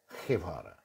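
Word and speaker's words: Guevara: যে বাংলায় যখন গেভারা বলতে পারি, জি এর পর যদি ই থাকে, মানে ইংরেজিতে যেটা ই, তাহলে সেই জি এর উচ্চারণ হ হয়ে যায়। বুঝতে পেরেছেন? ক্যাস্টালিয়ান স্প্যানিশে পরিষ্কার হ, ক্যাটালানিয়ানে খ, খেভারা।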